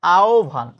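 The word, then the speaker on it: আহ্বান: অর্থাৎ আহবানের প্রমিত উচ্চারণ হচ্ছে আহভান।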